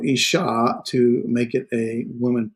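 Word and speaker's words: אשה: Woman, where we talked about woman, here's isha. There's our doggish forte, doubling the shin. So isha, to make it a woman plural, it is adds the noon, the nashim.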